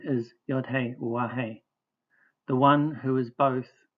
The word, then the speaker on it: Yahweh: In his answer to the high priest, our Messiah fulfilled his previous commitment by quoting King David's words and pronouncing our Creator's name, Yahweh.